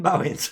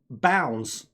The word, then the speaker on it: Bowens: Bowens, shot myself in the foot there. I'm always shooting myself in the foot. Oh, by the way, my name's pronounced Bounds, as in Downs, but with a B.